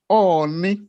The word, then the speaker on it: Oni: The title is pronounced Oni. Oni, but he pronounced it Oni of Ife. Oni Yoruba language means crocodile.